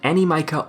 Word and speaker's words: Animica: So today I will be showing you the fastest way to gather the Animica ores. As confirmed by JMod on Reddit, this is how it's pronounced.